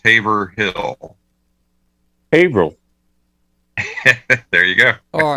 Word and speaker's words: Haverhill: And how do you pronounce Haverhill? Haverhill.